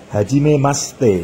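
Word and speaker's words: はじめまして: bisa dibaca gas Hai kemudian Hajimemashite Hai ye Bun bisa dibaca atau diucapkan jadi hajimemaste Hai seperti waktu perkenalan ya hajimemaste seperti itu Hai desu dibaca Des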